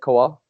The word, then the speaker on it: Kowal: That's how you say it, Kowal?